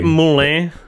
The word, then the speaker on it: Moulin: Because it's like French, obviously. They say Moulin in the film. Moulin. That seems about right.